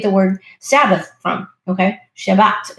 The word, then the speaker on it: Shabbat: Shabbat is is I believe how they say it in Hebrew.